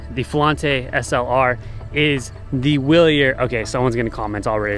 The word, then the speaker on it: Wilier: flante SLR is the willier okay someone's gonna comments already I think it's pronounced sorry villier willier willier whatever you want to call it I like saying willier anyways the fallante SLR